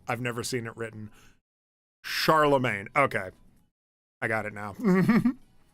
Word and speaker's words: Charlemagne: Charlemagne. Okay, I got it now. Maine would be pronounced ma.